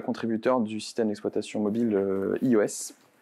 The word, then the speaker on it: /e/OS: du système d'exploitation mobile iOS. Ou EOS selon si vous le prononcez à la française ou à l'anglaise.